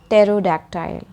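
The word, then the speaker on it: pterodactyl: He likes the word टेरोडैक्टाइल, द पी is silent like a secret.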